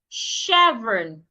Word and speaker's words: chevron: Chevron. The ch in that word also should be sounded like sh chevron.